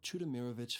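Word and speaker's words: Chudomirovich: My name is Chudimeirrovich.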